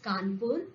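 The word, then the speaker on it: Kanpur: w n p o r e which is pronounced as kpur is actually the British spelling for kpur a city in up so after hearing his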